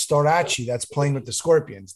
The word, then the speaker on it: Storace: In USA, it's Storace. I know. Storace. That's the right pronunciation.